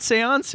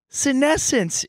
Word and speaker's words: senescence: No, it's not Seance. What is it? It's a big, huge word. Give me that phone. Senescence in retrograde. Senescence. It's senescence. It's senescence, and we never figured out what senescence means.